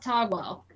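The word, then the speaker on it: Taguel: a buddy slum it's actually pronounced it's actually pronounced togwell that's what she says in in combat okay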